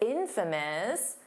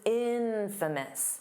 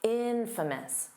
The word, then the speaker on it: infamous: Notice that pronunciation because it's infamous. The syllable stress is on the in, so it's not infamous. No, that's not how you say it. Infamous, infamous.